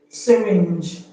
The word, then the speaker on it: syringe: The G the N G in syringe does not have the N does not have the N sound because G in syringe is pronounced G not G. Did you understand?